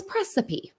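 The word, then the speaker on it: praecipe: look it up um it looks like recipe but it's precipe comes now Council for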